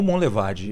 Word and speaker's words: Monlevade: João Monlevade.